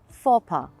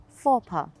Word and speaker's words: faux pas: here's another one then fopa okay i know that the spelling means completely different and it looks like the pronunciation could be completely something else but the pronunciation is really very simple for pa well repeat after me